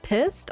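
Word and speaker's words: Pyst: Pissed. P Y S T. Am I pronouncing that correctly there? Midnight Monopoly. If I am not pronouncing it correctly, just let me know. Just let me know. I mispronounce words all the time. Yes, it is. It's pissed. Okay.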